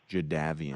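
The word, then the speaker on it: Jadeveon: him I don't like he maintains now that it's jaavan I don't like when people change their names I don't like that jaavan yeah jaavan yeah but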